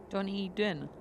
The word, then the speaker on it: Dunedin: Dunedin.